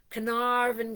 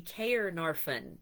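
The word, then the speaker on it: Caernarfon: Uh, and so that is c a r n a r fo n which it would be k or narfen if you said it like an American but uh that's not how it comes together.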